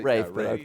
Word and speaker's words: Ralph: Rafe.